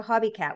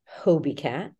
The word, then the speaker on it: Hobie Cat: whale sharks but please tell me about the hobby cat what what is that well it's pronounced Hobie Cat oh Hobie okay there we go not a